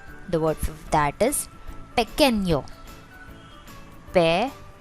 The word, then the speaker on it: pequeño: The word for that is pequeño. Pequeño. Remember the tittle above n makes it sound like nyo.